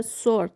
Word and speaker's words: sword: Зараз меч - це sword. W не вимовляється в слові меч.